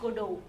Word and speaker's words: Godot: उनका जो प्ले था वेटिंग फॉर गोडो, ये फ्रेंच में फर्स्ट ऑफ ऑल लिखा गया था और इसलिए इसका प्रोनाउंसिएशन ऐसा है, स्पेलिंग होता है GODOT पर टी साइलेंट रहता है एंड इट is pronounced as गोडो, around 1953 में लिखा गया था।